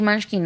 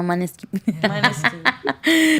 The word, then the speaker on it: Måneskin: Ah, you see, and we are very English, Munchkin, no Måneskin.